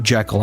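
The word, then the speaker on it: Jekyll: And by the way, Robert Lewis Stevenson, I believe Jekal is actually how they wanted it pronounced. Maybe I'm wrong, but I'm fairly certain that's how he wanted it pronounced. Um, but if you like Jackal, it doesn't matter. It's fine, too. It's just that's why I said it weird. Say it whichever way you want.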